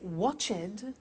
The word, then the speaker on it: watched: Now, when we add the e d, what happens is the pronunciation becomes t. We don't say watched.